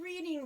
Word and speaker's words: Reading: We know the Reading Railway from Monopoly, after all. But it's Reading. Yes, well, that's why it's spelled Reading.